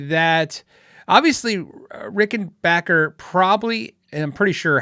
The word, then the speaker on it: Rickenbacker: Actually, it's pronounced Rickenbacker, if that makes sense.